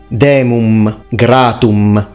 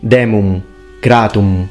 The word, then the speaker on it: demum gratum: He fully pronounces the M, demum gratum. It should be demum gratum.